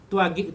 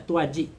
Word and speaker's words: Tuaji: Tuagik itu nama yang ditulis oleh Belanda atau Portugis, karena G dalam sana itu bacanya J atau baca di sana G, ya. Jadi adalah panggilan aslinya dari Kampar namanya Tuaji.